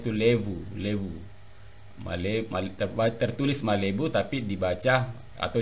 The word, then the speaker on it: lebu: Nah, ini di dalam entry di dalam kamus bahasa Mandar Bapak Abdul Muttalib ini, entry lebu itu memang tertulis lebu, malebu, tapi dibaca levu bukan lebu itu ya.